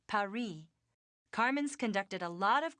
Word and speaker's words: Paris: Yeah, well, the locals pronounce it Paris.